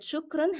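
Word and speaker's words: شكرًا: I want you to remember that shukran has to be pronounced always with the sound of n. It's part of the word.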